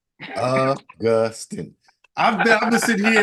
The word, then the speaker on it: Augustin: inflection is on the second syllable. Augustin in the middle.